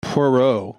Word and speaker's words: Poirot: like i would say it's perot like perot like ross perot but like like row that's close to how some of the people in the movie said it yeah because you wouldn't you wouldn't pronounce the t yeah p-o-i-p-o-i-r-o-t yeah one